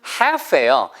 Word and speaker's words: half: 그래서 coming up the second half예요. 그게 가지란 뜻의 have가 아니고 반이란 뜻의 half죠. H-A-L-F예요. The second half예요. half. 그래서 half가 L이 묵음이니까 그죠?